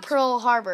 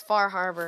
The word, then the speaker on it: Far Harbor: see all the trailer it's not Pearl Harbor it's far Harbor far Harbor sorry okay so yeah